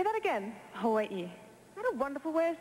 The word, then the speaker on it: Hawaii: call it Hawaii well if you want to be very technical you would say Havi because the Hawaiians pronounce their W's as V now it sounds a